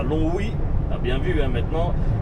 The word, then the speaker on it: Longwy: Tu m'as envoyé la bonne info et ben écoute, ben maintenant je ne dirai plus Longwy, je dirai Longwy. C'est un G muet, voilà.